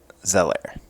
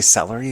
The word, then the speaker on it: Zeller: The second E is silent. Zeller. Cool. Why did I do that? Yeah, I knew that. I knew that. I was like, did I say celery again?